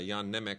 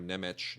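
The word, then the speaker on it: Jan Němec: Uh Yan Neck or Neich depending on how uh you choose to pronounce it.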